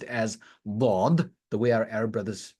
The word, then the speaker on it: ض: Now, when we grew up, you must have learned from a qari who taught you that this is pronounced as zad, and then we came across our Arab brothers and sisters, and they pronounced this as dad, and we learned, okay, the correct way of pronouncing this is dad. So والعاديات ضبحا, and then some people who are perhaps not that skillful at it, they pronounce it as dal, والعاديات ضبحا, whatever it is.